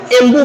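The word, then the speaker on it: Ambu: एम्बू या इसको बोलते हैं एमबू। इसका जो स्पेलिंग होता है ए एम बी यू।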